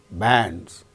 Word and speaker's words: bands: consonant sound before A, bands. After A, we find N, D and Z, bands, because D is a voiced sound and the plural marker is pronounced as Z, bands. Likewise, there are 3 sounds